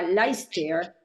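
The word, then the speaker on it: Leicester: una ciudad universitaria que se llama laister este lo dije en inglés pero se escribe leyes Esther pero en inglés es y sé que viajó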